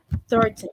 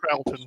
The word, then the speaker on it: Troughton: However, despite that, my personal favorite Doctor is the late Patrick Thornton. Did I say it right? Thornton? Troughton, yeah. Troughton?